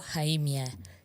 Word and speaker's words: Khaimia: Khaimia. K is silent in both, so okay. So ignore the K. It's Khaimia.